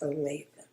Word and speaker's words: Olathe: Holtz had his lawyers personally look into it, and they got a lawyer out in Olathe, Kansas. It's spelled Olathe, but it's pronounced Olathe.